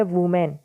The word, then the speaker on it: women: इसके साथ ही टाइटल में एक वर्ड आया है WOMEN, जिसकी प्रोनाउंसिएशन होती है वुमेन, लेकिन जब भी ये स्पेलिंग WOMEN हो तो इसकी प्रोनाउंसिएशन क्या होगी? विमेन। ये बात ध्यान रहे थोड़ी सी।